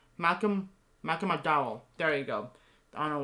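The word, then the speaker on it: Malcolm McDowell: um malcolm malcolm mcdonald mcdonald i couldn't even pronounce malcolm michael mcdowell there you go i don't know why i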